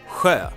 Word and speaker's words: sjö: The second part means lake, sjö, with that nice little sound again. And S and J in sjö make up that sound. We spell that sound in several different ways, and in this case we spell it with S and J.